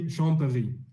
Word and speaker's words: Champéry: I'm just trying to pronounce the name of the city there. Champéry, is that? No. I would say Champéry.